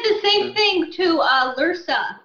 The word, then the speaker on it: Lursa: He said the same thing to Lursa. He called her Lurser in Generations. And I was like, why did he say it wrong?